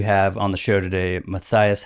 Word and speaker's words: Matthias: I always joke, it's phonetically spelled. You just sound it out. Matthias.